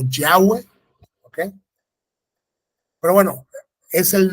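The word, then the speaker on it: Yahweh: en vano no entonces lo que más se puede acercar digamos al español es yah o yahwe Okay pero bueno es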